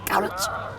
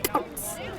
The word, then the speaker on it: Cowlitz: Some pronounced it differently. In one sense, it was called Cowlitz. In others, it was Cowlitz.